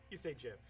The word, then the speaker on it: GIF: Everyone should see the first question, and there should be a GIF, which I say hard G. Erica, you say GIF.